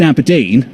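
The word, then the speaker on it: abrdn: plc except it's about a b r d n the new name pronounced aberdeen helpful will be of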